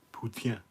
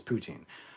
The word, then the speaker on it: poutine: as misspelling poutine or putin that's how it's pronounced putin no one says it like that except for the french it's poutine however or putin putin sounds better but no